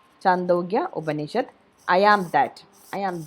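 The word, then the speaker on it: Chandogya Upanishad: in chando yeah banished i think that the pronunciation is that chandogya obanishad i am that i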